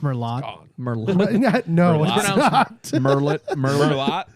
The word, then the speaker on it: Merlot: about and those yeah like you like a Mero you you love a dry Mero I do